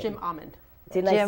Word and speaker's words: Jim Amend: And it's Jim Amand.